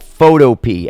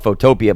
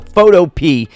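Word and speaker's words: Photopea: called photop and I thought it was actually called photopia but I should have known better because it would be p i a and not P EA so photo is I believe how you pronounce it this is a free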